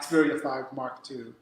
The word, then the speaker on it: Xperia 5 Mark II: yeah, the Xperia 5 Mark II.